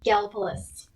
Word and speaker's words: Gallipolis: I know how the locals say it. That's what I want to know. Gallipolis.